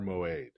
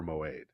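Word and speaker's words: מועד: And the reason you get a G in there is that Moed has, for language nerds, Moed has an ion in it. Oh. Which was originally pronounced as a kind of a G sound.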